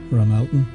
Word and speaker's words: Ramelton: Rath is often abbreviated to Ra, for example, Ramelton in County Donegal, which is spelt Rathmelton, and the townland of